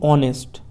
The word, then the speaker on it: honest: এখানে কিন্তু আমরা অবশ্যই অ্যান বসাবো, যেহেতু এর উচ্চারণ হচ্ছে, ঠিক আছে। যেমন আমরা লিখি অনেস্ট, অনেস্ট, HONEST, অনেস্টের আগে কিন্তু আমরা কখনো এ লিখবো না, অ্যান হবে, ঠিক আছে, অ্যান অনেস্ট।